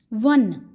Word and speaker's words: one: वन, यहाँ पर हमारी प्रोनाउंसिएशन इस वर्ड की है वन, ओ से शुरू है, लेकिन यहाँ पर ओ हमारा AEIOU वाली चीज़ नहीं है, हमने प्रोनाउंसिएशन देखनी है। वन बोलते हैं इसको, व प्रोनाउंसिएशन है।